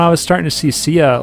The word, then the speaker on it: Sia: Sia. I would always see it pop up like on my playlist. I'm like, Shia? Is it Shia? Not Shia. I don't know.